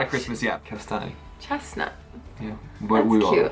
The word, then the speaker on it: kastanj: Kastanj.